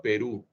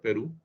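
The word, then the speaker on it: פרו: El término fructificad en hebreo viene de la palabra Perú. Se pronuncia igual que el país vecino, Perú.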